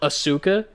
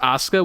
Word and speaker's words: Asuka: is spelled Asuka, but it's pronounced Asuka, which like you're not wrong for thinking the way you did in theory.